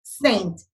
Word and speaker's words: St.: Now ST is pronounced as Saint, okay? It's the short form.